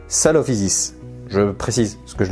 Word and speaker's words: Coelophysis: Alors, petite précision, c'est vrai qu'en latin on dit koilos, mais véritablement quand on prononce koelophysis, c'est pas koelophysis, c'est salophysis.